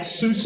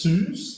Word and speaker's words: SUSE: That close up at SUSE. Apparently, that's how you pronounce it. I always thought it was Suze, like as in Dr. Seuss.